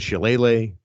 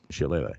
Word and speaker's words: shillelagh: Oh, David Finlay with a shillelagh.